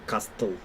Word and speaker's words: castle: Is Castle very old? I Только смотри, не читаем каждую букву. Мы не говорим castle. Мы говорим castle. Да. Все смягчается.